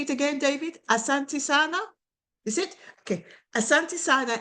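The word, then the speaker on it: Asante sana: David Asantisana is it okay?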